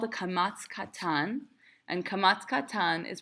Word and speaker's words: kamatz katan: So it's kamatz katan. It's pronounced o, not a.